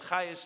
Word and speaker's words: Chayes: Into the Chabad house comes a woman, her name is Margaret Chayes, C-H-A-G-E-S, but Chayes is pronounced, some of you may know Maratz Chayes.